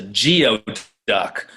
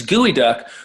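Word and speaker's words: geoduck: heard of it before they think it's a geo duck yeah but the way it's pronounced is is gooey duck which actually is a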